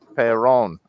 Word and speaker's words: David Perron: Perron. It's not Perron, it's Perron.